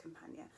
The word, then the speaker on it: Campagna: It is pronounced Campagna.